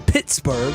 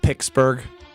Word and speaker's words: Pittsburgh: Bay Packers went to Pittsburgh that's how you say it right start 2025 saying that off right and they lost he used to call it pixburgh they lost but after